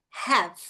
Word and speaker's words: have: Então, em vez de have, have, termina no V, ó, have.